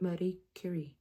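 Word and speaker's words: Marie Curie: Marie Cury. Is that how I should be saying it? Awesome. I was looking up how to properly pronounce Marie Curi as in French, but Marie Curi is proper pronunciation.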